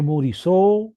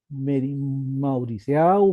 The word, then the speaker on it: Mauriceau: Lo que quiero que memoricen, que vean y se acuerden es de esta maniobra de Morisot, Mauriceau, Moricé, como ustedes lo pronuncien, que se escribe así, y que sirve para extraer la cabeza última.